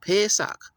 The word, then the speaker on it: Pesach: Now, a person that understands this would say, okay, then that would be Pesach, right? With a long A sound. Pesach. Right. That's how you say it.